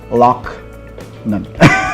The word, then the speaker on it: Loughnan: That's how I practiced her pronouncing her last name, Loughnan, like Loch Ness.